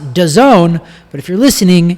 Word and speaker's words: DAZN: pronounce it dazn but it's d-a-z-n is how it is but it's pronounced dazon but if you're listening